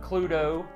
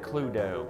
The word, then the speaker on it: Cluedo: Cluedo. That's the way you pronounce it, Cluedo.